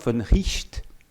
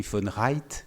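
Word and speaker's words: von Wright: collègue finlandaise est dans la salle, mais Georg von Richt, ça s'écrit von Reit, si on le prononce à l'anglaise, qui est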